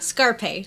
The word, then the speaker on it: Scarpace: me with your last name how do you pronounce that scarpace scarpace okay scarpace scarp because if you want